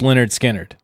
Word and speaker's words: Lynyrd Skynyrd: Skynyrd one of their albums was called it's pronounced Lynyrd Skynyrd that's funny because people are like how do